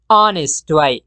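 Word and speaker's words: honest: सादिक तब इंग्लिश के ऑनेस्ट वग ऑनेस्ट के एच से साइलेंट दे तलफज़ की होनेस्ट ऑनेस्ट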